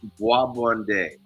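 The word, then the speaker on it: bois bandé: It's pronounced Boabonde.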